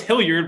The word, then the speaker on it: Hilliard: a hilliard hilliard illiad no i know it's hillyard but like you're a